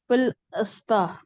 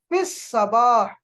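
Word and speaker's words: في الصباح: फिल फिल अस्बाह गलत, फिस सबाह, लाम फिस यहाँ साइलेंट सबह है।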